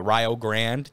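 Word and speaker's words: Rio Grande: thing right now uh R Grand yes that's how they say it in Ohio uh yeah yeah not Rio Rio um and they got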